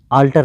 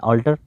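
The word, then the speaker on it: altar: और आगे है तो ऑल्टर, इसको आल्टर नहीं पढ़ेंगे बल्कि सही प्रोनाउंसिएशन है ऑल्टर।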